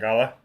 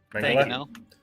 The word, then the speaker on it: mangonel: Man, I can never pronounce this thing. Yeah. This thing. And it's like, it's depending. Mangala? Mangonel?